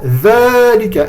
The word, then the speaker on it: ذلك: Le mot dhalika. On l'écrit comme ça. On l'écrit, je vais vous le faire, dhalika. Par contre, il faut le prononcer obligatoirement, dhalika. Le alif, il ne s'écrit pas, mais il est obligatoire d'être prononcé.